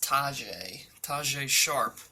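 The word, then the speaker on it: Tajaé Sharpe: It's pronounced Tajay Sharp.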